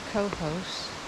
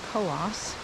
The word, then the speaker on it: Cohos: hike through New Hampshire met to co-host which I realize all this time I've been pronouncing wrong it's actually co-ops but right off the